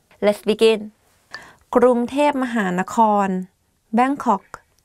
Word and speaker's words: กรุงเทพมหานคร: going to do top 10 hardest words to pronounce. Let's begin. ก รุ ง เ ท พ ม ห า น ค ร Bangkok. ก รุ ง เ ท พ ม ห า น ค ร If you go to Thailand and you hear